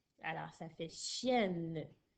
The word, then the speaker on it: chienne: Attention, dans chienne, j'entends un E, mais il n'y a pas d'accent sur le E. C'est parce que j'ai des lettres jumelles que mon E fait E.